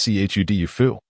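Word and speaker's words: 臭豆腐: Stinky tofu, pronounced as c hud dufu.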